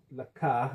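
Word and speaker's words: לָךְ: Okay, if it's pronounced lak, it's the same, but you're talking to a woman.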